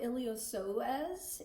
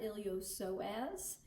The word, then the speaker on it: iliopsoas: pelvis area and so iliopsoas is how you pronounce that iliopsoas and not iliopsis so some people do pronounce the p but that is wrong then pectineus then rectus